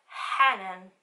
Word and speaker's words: Hanan: canal, es mi nombre, que pone Hanan, pero en verdad se pronuncia Hanan.